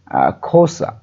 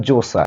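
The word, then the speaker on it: Xhosa: এই শব্দটি ইন হিস খোসা তো এটার উচ্চারণ খোসা বা জোসা অনেকে জোসা অনেকে আবার খোসা খোসা উচ্চারণ করে থাকেন।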